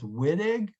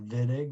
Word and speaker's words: Wittig: the vidig or the it looks like it's wittig but my instructor told me it's pronounced vidig with a v it's not like we have